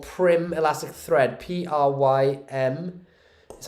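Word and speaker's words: Prym: thank you i use um this stuff called prim elastic thread p-r-y-m that's how you spell it i i think it's knitting thread it's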